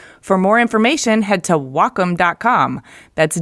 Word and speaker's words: Wacom: no well come no it's Wacom pronounced wah like the Japanese word for harmony and come for computer the Wacom Cintiq 16